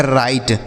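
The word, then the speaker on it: right: टी से ट और यहां पर जी एच साइलेंट रहता है इसका उच्चारण नहीं करते हैं तो लिखा गया राइट उसी तरीके से एन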